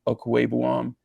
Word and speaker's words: Okwuegbunam: do have on their offense with Sutton, with Okwuegbunam, I said it right, I know.